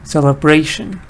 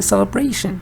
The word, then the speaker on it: celebration: you should remove one of them Ali good celebration and it's interesting that the word itself is